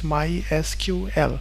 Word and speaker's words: MySQL: they had mentioned that the correct way of pronouncing this is MySQL so this is the